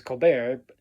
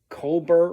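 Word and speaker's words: Colbert: name of Steven Cobar because his name is Cobar and Paul said Cobber or something like that which I have no issue with.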